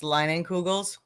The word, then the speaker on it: Leinenkugel's: Yeah, and that beer lodge that you saw, it's Leinenkugel's. They're Line and big. Kugels. Yeah, I would have Yeah. got that. Yeah, Line and Kugels.